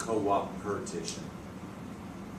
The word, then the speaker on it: coopetition: Scout, I've heard it always as coopetition. That's how they pronounce it. It's co-opetition.